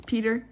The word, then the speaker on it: Petter: And his name is, it's spelled Petter there. It's Peter. His name's Peter.